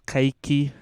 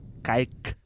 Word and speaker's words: Kiki: dope that's true uh my name is Kiki um I'm say say that again Ki KI yeah dude I love it